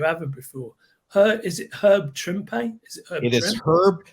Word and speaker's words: Trimpe: And they have Herb Trimpe, rhymes with Shrimpy.